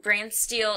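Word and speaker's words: BrantSteele: can see we are doing a uh uh brand steel is that how you pronounce it yes okay um a brand steel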